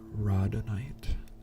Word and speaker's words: rhodonite: They recommended Roddenite, which is spelled RHODONITE, and that's good for emotional balancing.